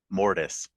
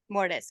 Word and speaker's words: Mortis: and then the sun oh no it's not M it's uh mortise mortise okay so the mortise